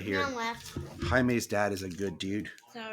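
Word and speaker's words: Jaime: it was so annoying because the guy kept pronouncing it as like jam not even Jamie he was like jam Rees I was like no it's Hae can you hear yeah it's it's it's really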